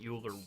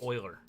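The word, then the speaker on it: Euler: the I need to print packet uler one you doing it again packet Oiler okay I know I have a mental block I know how to pronounce Oiler okay so yeah my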